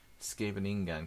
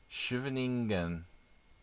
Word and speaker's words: Scheveningen: So the CH is a Dutch G, so pronounce the G would probably give you a scary throat disease. Scheveningen.